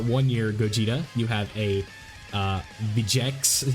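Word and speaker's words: Vegeks: have the STR 1-year Gogeta, you have a Vegex, is how you say that, so it's the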